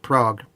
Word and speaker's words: Prague: a new prague but it's pronounced with a long a sound not like the real city so it's pronounced prague which is correct yeah